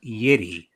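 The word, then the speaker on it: Yitty: launching her own size inclusive shapewear line called yeti it's it's spelled y-i-t-t-y so um so all the big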